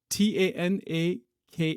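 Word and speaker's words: Tanakh: is known as uh t a n a k h k h tanak I think maybe that's how it's pronounced is traditionally divided into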